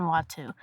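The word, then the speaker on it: Watteau: Jean Antoan Watu.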